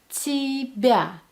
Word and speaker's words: тебя: So the whole thing will sound as ti, bya, тебя, тебя, тебя.